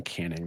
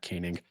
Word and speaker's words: Canning: I mispronounced Griffin Canning's name earlier, by the way. It's Griffin Canning, not Canning.